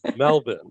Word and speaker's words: Melbourne: year in melbourne and notice the pronunciation i got it i got it right very proud of you melvin even though it says melbourne but it's melbourne right it is all right